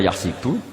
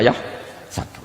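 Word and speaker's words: يحسب: Karena dalam qiraah sab'a ada yang baca yahsibu, qiraah kita baca yahsabu. Tapi guru-guru kita kalau ngajar fikih itu bacanya yahsibu. Tapi kalau baca Quran yahsabu.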